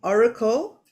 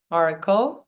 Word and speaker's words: Orykl: to tell us all about her new platform Oracle that is for channeling and where you can